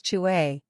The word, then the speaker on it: Chu: associated with the lungs Chu pronounced like chewe with a forceful exhale which is associated